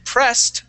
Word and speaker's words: pressed: those two okay so pressed was excellent okay pressed is going to have a t sound okay okay so that